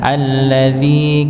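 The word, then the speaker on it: الَّذِي: alladzi ya alladzi ya di sini huruf dinya dibaca Dua dua harakat ya dengan kaidah Nggih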